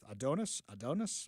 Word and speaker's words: Adonis: Adonis Ducksworth. Adonis? Yeah, that's how you pronounce it.